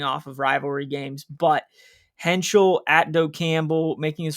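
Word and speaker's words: Heintschel: Freshen freshman Mason Henchel.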